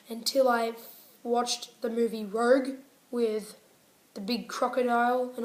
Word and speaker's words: Rogue: ah I've been saying it wrong my entire life it's actually reg reg it's actually raid sorry got it rolls